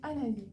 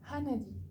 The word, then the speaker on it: Hanadi: Donc ça se prononce Hanadi. Hanadi. Avec le H comme ça.